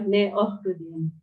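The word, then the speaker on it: Cneoridium: Contohnya ini tadi ya, CN, Cneuridium tulisannya, maka kita baca Neohridium.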